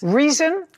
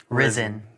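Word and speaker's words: Rizin: Reason. Risen. Risen. Spell it.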